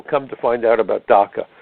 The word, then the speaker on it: DACA: In fact, I was just interviewed by a young lady, a reporter from New Zealand today, about DACA, D-A-C-A, and I jokingly said, yes, it rhymes with caca.